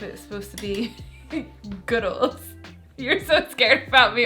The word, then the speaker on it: Goodles: like good goodles or is it like noodles with a G so it's goodles I think it's like